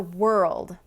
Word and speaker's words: world: Okay, now let's go over world.